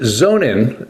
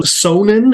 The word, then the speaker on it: Sonnen: that you pronounce it zonin and so it sort of sounds like Zone like the endzone or something like that and I guess that